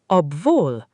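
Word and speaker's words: obwohl: The word is pronounced obvul. The stress falls on the second syllable.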